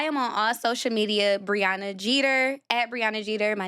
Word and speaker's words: Breona Jeter: Briana Jeter. Briana Jeter. My name is spelled B R E O N A J E T E R.